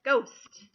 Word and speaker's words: ghost: the H right so if you have G H together you're just here the G sound like in the word ghost right and ghost I don't say look at that crazy ghost flying around no to say look at that ghost and you don't hear the H so in your list